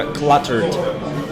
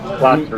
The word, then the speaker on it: cluttered: Только cluttered. Cluttered. Никогда на окончание не ставим ударение.